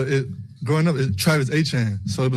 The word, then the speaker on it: Etienne: So, I'm like, man, it's Etienne. Like how you see it is how you say it.